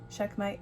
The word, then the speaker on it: Sekhmet: So we have the goddess Sekhmet and the fire agate.